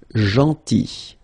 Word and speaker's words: gentil: Then, gentil. So remember this final L is not pronounced. Gentil.